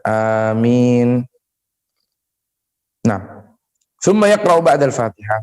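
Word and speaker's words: آمين: Mengeraskan bacaan amin, ya, bacanya panjang, amin, bukan amin, ya, bacanya dipanjangkan, amin.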